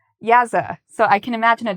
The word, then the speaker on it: yaza: In Mandarin, the word for duck is yaza. How do I remember this? Well, I imagine a duck playing jazz music. So I think jazz sounds like yaz, yaza.